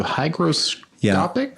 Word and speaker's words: hygroscopic: Hygroscopic? Hydroscopic. Hydroscopic. Exactly. You said it right. There's a G, not a D.